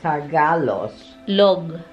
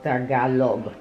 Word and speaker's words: Tagalog: Oh, Tagalos. Oh, Tagalog. Yeah. Without the S. Okay. Yeah. G in the end.